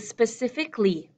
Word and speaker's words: specifically: A quick note about the word specifically, specifically. Really, my beautiful British pronunciation, my clear pronunciation, I might hear five pieces. Specifically, specifically. My quick, shortened English pronunciation, I hear specifically, specifically, specifically.